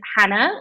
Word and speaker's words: Jana: doing easiest place is Hannah which is spelled j a n a you wouldn't expect that but I'm half Spanish